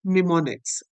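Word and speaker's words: mnemonics: उन्हें कहा जाता है निमोनिक्स। एम साइलेंट होता है।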